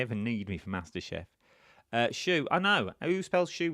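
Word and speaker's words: choux: Oh, is it shoe? Is that how it's spelled with an X? I would never have put an X on the end of shoe. Shoe.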